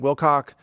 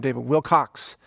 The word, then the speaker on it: Wilcock: some pretty major issues I inadvertently mispronounce his name multiple times and instead of trying to rerecord the whole thing because it was a it was really an off-the-cuff analysis that I think is very solid I'm just issuing this apology up front I'm I'm sorry mr. Wilcox I actually pronounce your name David Wilcox I'm sure that he's